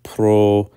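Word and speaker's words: προΐστημι: So in the verb, for example, proistemi, the iota has a dieresis to indicate that it is not a diphthong with the omicron in front of it, but rather is to be pronounced separately. So proistemi.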